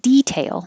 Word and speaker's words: detail: in my life 20 you can say both ways and usually stress is on the first syllable for a noun so you would expect detail to be the noun